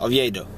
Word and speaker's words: Oviedo: Oviedo.